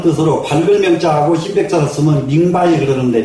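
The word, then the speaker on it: 明白: 그래서 지금도 이 백자는 안다는 뜻으로 밝을 명자하고 흰백자를 쓰면 밍바이 그러는데 밍바이. 너무 잘 알고 똑부러지게 아는 것은 밍바이 그럽니다. 지금도 밝을 명자는 밍으로 발음을 하고요. 이 흰백자는 바이로 발음을 해서 밍바이라고 하는데 그것은 명백하다.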